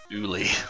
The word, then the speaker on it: Ugly: It's pronounced Uli. The G is silent like lasagna.